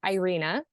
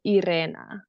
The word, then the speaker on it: Irena: okay so I guess the American way is Irena but if you can the rules are if you can roll your RS you can say my name the right way so Ira Ira Ira Ira yeah